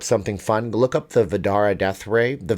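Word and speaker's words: Vdara: to look up something fun look up the vadara death ray the vedara is one of the properties and resorts over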